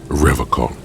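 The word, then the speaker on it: Revachol: He pronounces Revocol with a hard K, unlike other people.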